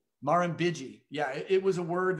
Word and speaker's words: Murrumbidgee: question I've ever asked anyone on the show pronounced River on Waga Beach the Murrumbidgee that is the weirdest word I've ever one of the weirdest words I've ever spelled say it again Marin biggie mahram biggie yeah it was a word that I could